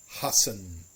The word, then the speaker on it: hassen: Double S, no matter where it is always a sharp S as well. It's always a sharp S. An example would be hassen.